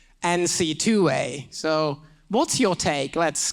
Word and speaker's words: NCAA: NCAA is for the lazy folks. NC2A.